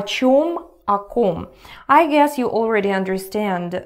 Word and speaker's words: о ком: So pay attention to the pronunciation. You remember the vowel reduction rules, right? So here it sounds not like clear о, but like а, а. О ком.